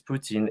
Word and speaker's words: poutine: regardless if it's grammatically correct the way chantal pronounces poutine is legit how all of yeah i agree